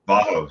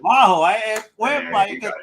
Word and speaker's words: Vaho: And did I pronounce that right? Is it Vaho, Vaho? How you like it? Vaho. Yeah, you got it. Vaho.